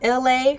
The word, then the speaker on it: LA: Okay, my name is LA, pronounced like Ellie, like the city.